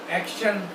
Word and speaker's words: action: अब इसके प्रोनाउंसिएशन देखिए, एप्पल, एक्शन, CT, और इसकी आवाज़ कैसी आ रही है? एक्शन, शाह की आवाज़ आ रही है। आप अगर इसको प्रोनाउंसिएशन भी हम सीखेंगे, एक्शन, आ का शा ना, एक्शन हम बोलते हैं। एक्टन नहीं होगा, एक्शन। Apple, Apple.